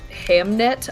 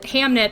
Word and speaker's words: Hamnet: no I know but they pronounced it like Hamlet is what I'm saying